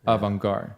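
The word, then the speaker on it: avant-garde: He's in the theater, like the avantgard. Is that how you say it, Alvin? Say something. Yeah. Avanguard.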